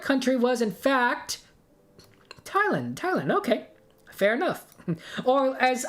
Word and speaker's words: Thailand: say these countries' names, I would call it Thailand. You know, like a Thailand, because there's a TH. That's not how you say the country, at least.